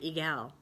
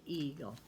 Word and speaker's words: eagle: We don't say egal, but we say eagle.